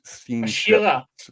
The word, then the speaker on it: Asherah: How would I say Asherah properly? Well, that's a good question. Actually, I don't know. I see that. We have it there. Here, let's get close. I'm looking at where the Dagesh is. Ashira.